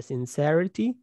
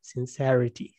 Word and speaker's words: sincerity: النون بقول sincere يبقى sincerity sincere ليه؟ عشان هنا في حرف إيه فخلينا ننطق الإي دي long خلينا نقول sincere أما الإي دي مش موجودة في النون فقلتها إيه sincerity sincerity اللي هي الإيه الإخلاص